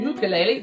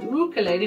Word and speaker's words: ukulele: ukulele it's quite in ukulele just the proper way to pronounce it ukulele not ukulele yeah this is a